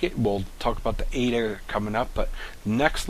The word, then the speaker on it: eta: We have also here in the next letter is a eta. It's pronounced eta, and it has an A sound as in late.